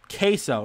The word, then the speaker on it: queso: sure ques so it's a rare example of a sent a silent letter in Spanish the U after the a q or G can be silent queso so are we saying